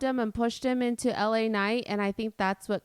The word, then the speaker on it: LA Knight: LA night. There you go. LA. It sounded like you said Elanite.